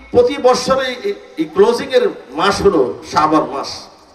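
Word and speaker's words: شعبان: এই ক্লোজিংয়ের মাস হলো শাবান মাস শাবান উচ্চারণ করতে পাঁচটা অক্ষরের সমন্বয় শিন আইন বা আলিফ নুন শাবান শিন দেয়া হলো সারফুন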